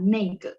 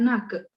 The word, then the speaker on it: 那个: Silakan dihapus dulu, biar saya bahas yang nake sama neike ya, oke. Sudah? 好了吗? Sudah di screenshot? Sudah, 可以呀, oke. Nah, secara resminya emang dia bacanya nake ya, nah ke itu, ya enggak?